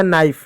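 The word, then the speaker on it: knife: कभी भी के एन साथ में आए तो हमेशा के साइलेंट होता है।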